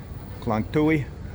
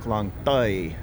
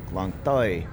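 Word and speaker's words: Khlong Toei: It looks like Klang Tui, so that's how I say it. But that's the problem with being a Farang, trying to say things the way they're written out, I guess phonetically in English, and that's not gonna cut it. And here we are, and the train lady said Klang Toi, Klang Toi.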